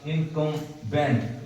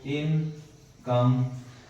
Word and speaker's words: incumbent: ये जो वर्ड है INCUMBENT, देखने में ऐसे लगता है कि इसका प्रोनाउंसिएशन होगा इनकम्बेंट, लेकिन नहीं, इसका प्रोनाउंसिएशन लिख देते हैं आपको इनकम्बेंट। ये होता है इसका प्रोनाउंसिएशन, जिसका हिंदी होता है